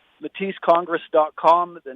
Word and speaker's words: Mathys: to raise money the website is simple it's matisse congress dot com the name is spelled m-a-t-h-y-s congress dot com we would be